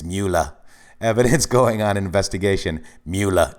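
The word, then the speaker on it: Mueller: box DOJ block regarding Miller evidence I always say his name wrong it's moolah evidence going on investigation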